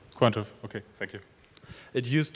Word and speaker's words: Quantive: Quantive. Quantive, okay, thank you.